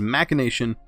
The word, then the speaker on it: machination: I looked that word up because I didn't know if I was pronouncing it right. It is Machination.